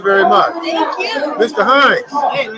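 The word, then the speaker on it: Hinds: My last name is Hines, H-I-N-D-S, right? But it's German, so a lot of people don't know that the spelling Heinz is either H-I-N-E-S.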